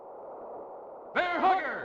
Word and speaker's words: Hugger: would have pronounced it like the emphasis on the first half of the word hugger instead of like Bear Hugger like how I would say it weird fight my Dodges